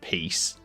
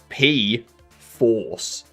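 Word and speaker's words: Pea4ce: I know it's not peace. No, no, no, no, no. That's spelled P E A 4C E. Okay, that's P force.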